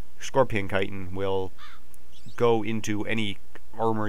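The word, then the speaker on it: chitin: to that yet scorpion stuff this is actually pronounced kiten so yeah this kitan scorpion kitan will go into any armor you crafted into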